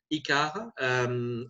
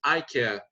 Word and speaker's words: ICARE: with the grandma collaboration icarra i prefer to pronounce it i care which give a better idea of what the tool can do so the